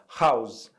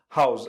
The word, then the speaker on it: house: Olha só, house, house. A gente ouve primeiro um som de R, não é mesmo?